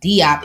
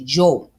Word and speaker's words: Diop: So like when we say Shank Auntie Diop, it's not Diop. It's actually Jo.